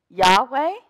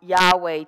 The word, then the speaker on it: Yahweh: german to get from Yahweh to Jehovah there's a whole long linguistic travel there to get from Yahweh to Jehovah but the syllables are yeah y-yeah way so Deuteronomy 6 5